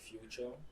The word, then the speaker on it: Fuchor: Okay, the name is actually Fuchor.